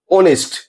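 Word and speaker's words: honest: Start हो रहे हैं, लेकिन यहां एच साइलेंट होता है प्रोनाउंस करने पर। जैसे हम लोग इसे पढ़ते हैं आवर, ओनेस्ट, ऑनर, एओ।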